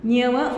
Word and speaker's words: ñama: Ya no le agregaste el ñue. Ajá, eso ya no es ñe. Quitamos la U, el ñue, y lo convertimos solamente en ñe. Muy bien. Profesor. Sí, En lugar de que haga así, es ñama.